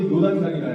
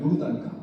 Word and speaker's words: 요르단강: 이렇게 전부로 요단강이라 해요. 그것을 갈릴리 호숫가에서부터 쭉 물줄기가 내려오면서 사해까지 내려오잖아요. 이 강을 요단강이다. 우리는 요단강이라고 하지만 본래 발음은 요르단강이다. 요르단강.